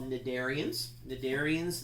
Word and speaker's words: cnidarians: called in the Darien's cnidarians the C is silent what do they have